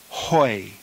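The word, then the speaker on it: οἱ: letter of the diphthong the plural nominative is pronounced hoi hoi the feminine plural nominative is high high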